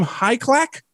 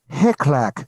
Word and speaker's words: Hyclak: by cleveland comedian ray do you say your last name high clack it is yeah usually it's a name